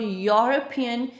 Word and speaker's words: European: Because whenever we pronounce the word European, beginning sound is the y and it is not the vowel sound.